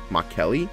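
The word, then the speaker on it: Mercalli: enough energy to cause an earthquake with a markelli intensity of five Mark Kelly that's why now it's pronounced again thank you big Speedy the engineered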